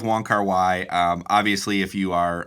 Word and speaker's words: Wong Kar Wai: pronounce his name because i have heard other pronunciations people will sometimes call him wong kar wei i've also heard uh wong ky um there is some debate about about the english pronunciation we're going to go with wanker y um obviously if you